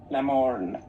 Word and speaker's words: Lamorne: Lamorne.